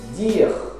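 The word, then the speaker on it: dire: Dir. Olha lá, você pronuncia dir, você estende o R.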